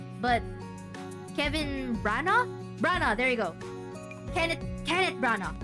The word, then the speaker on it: Branagh: Branagh, there you go.